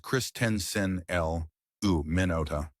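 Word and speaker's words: Christensenella minuta: And now the fourth microbe, chrysenella manuda, pronounced christen l u minota, the lean companion.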